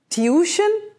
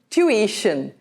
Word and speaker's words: tuition: Tuition? Tuition. Tuition. Notice the I in the middle of the word, and you need to pronounce that as an E very clearly.